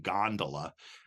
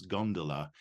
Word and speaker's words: gondola: folio, spells gondola, and English people go with the Gilbert and Sullivan gondola, but the Italian, you would hear it as gondola, and it's spelled with a U.